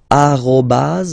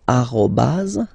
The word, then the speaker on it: arobas: at all right uh but officially it should be arobas okay so don't be